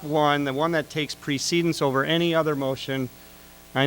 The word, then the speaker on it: precedence: Well, it's actually pronounced precedence in parliamentary terms.